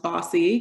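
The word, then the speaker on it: BAWSI: bay area the area women's sports initiative pronounced bossy because that's what we are hey um but it's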